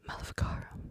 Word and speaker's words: Maleficarum: I never pronounced the second word correctly. Maleficarum.